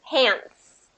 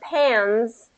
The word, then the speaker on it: pants: about pants he says is the T silent pants pants so instead of pans so if the T was completely gone it would be pans versus pants it's kind